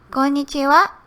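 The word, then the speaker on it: こんにちは: Remember, this is a wa particle, so it's spelled as ha. If you follow exactly this spelling, konnichiwa, you will get hello in Japanese.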